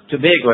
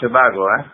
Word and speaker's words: Tobago: the I left Trinidad in Tobago uh it's pronounced Tobago not Tobago we Tobago Tobago that's right uh I went